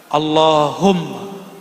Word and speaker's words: Allahumma: Allahumma. Yang benar bacanya.